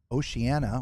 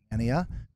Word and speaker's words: Oceania: It is the Vista from Oceania, or Oceania, depending on how you pronounce it. And I've heard it both ways.